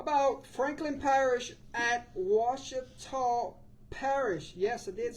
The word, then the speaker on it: Ouachita: Right, That's Ouachita Yeah, that Parish, was yeah, pretty good Ouachita. this time. Pretty good. That's this week. pretty Wichita, good. Thumbs Ouachita.